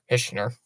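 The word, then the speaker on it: Hischier: notification there pellot fees it over to hisher hner that's how you say it hner tried to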